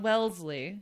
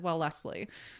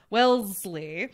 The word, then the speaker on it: Wellesley: at the beginning but wellesley yeah so it's like saying like well leslie you know that's what that's how i see it but then i have i know i can't pronounce it well lastly okay i get it